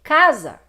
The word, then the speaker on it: casa: Em casa, casa. O A de cá é muito mais forte do que o A de Zá.